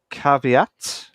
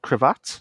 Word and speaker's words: caveat: So yeah, Battlefield 2042 to offer both cross progression and cross platform play with a caveat, not cravat, as I pronounce it wrong.